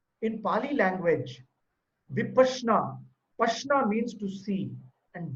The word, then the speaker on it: Vipassana: This word called, it is not Vippasana. A lot of people pronounce it as Vipassana. The actual word is a Pali word. In Pali language, Vipassana, Pashna means to see, and Vipassana means to see within.